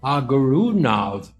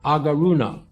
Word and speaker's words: Agarunov: war between armenia and azerbaijan his name albert aguero nav that's spelled a-g-a-r-u-n-o-v tank commander albert agaruna the statue was unveiled by azerbaijan in november